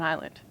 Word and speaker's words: island: so people thought that the S had just gotten left out somewhere in the history of English so in the Renaissance they put the S back in and that is the story of the ESS in island so sometimes silent consonants capture